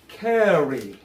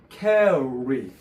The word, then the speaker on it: carry: 담장을 넘어오는 도둑을 보고, 그 다음에 요거는 이제 carry, carry. carry. carry. 알 발음 때문에 그냥 carry 이렇게 하면 안 돼요. carry, carry, carry, carry. carry예요, re.